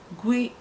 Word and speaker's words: gw: Gwi a na-ede ya GW n'asụsụ Bekee, pronounced as gwi, as GWEE.